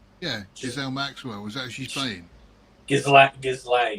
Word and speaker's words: Ghislaine: Ghislaine is how you pronounce that, by the way. Ghislaine.